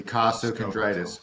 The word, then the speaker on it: costochondritis: And first, I just want to give you props for pronouncing it correctly. Costtoondritis.